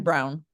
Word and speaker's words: Braun: like that Braun Christian Brown. Brown, whose name's spelled like Braun.